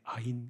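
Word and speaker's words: עין: 히브리어로 아인 이렇게 되어 있어요. 발음이 아인.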